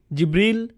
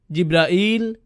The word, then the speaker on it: জিব্রাইল: জিব্রিল, জিব্রাইল, জিব্রাইল, জিব্রাইল, জিব্রিল, এই 5 ভাবে তার নাম উচ্চারণ করা হয়।